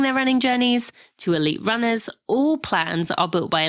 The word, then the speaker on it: Runna: That's spelled Runner, spelled RUNNA. That's Runner.